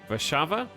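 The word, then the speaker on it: Warszawa: but their W's no it's the weird W that's pronounced like a v wait did they say V VAV VAV and we say Warsaw vasava yeah I have no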